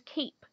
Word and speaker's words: cape: a short vowel but when we add a silent e to the end of it the vowel becomes long this word becomes Cape Cape is a vowel consonant East syllable word although similar to cap it is very different the silent e makes all the difference when tapping vowel consonant